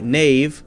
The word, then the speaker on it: knave: hasn't really changed we say ke na ve knave like knave na ve but still spell it in the most ridiculous possible way I